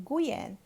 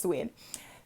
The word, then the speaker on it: Nguyen: his last name and we call him guian and then later i've been told it's pronounced to win that's fine um he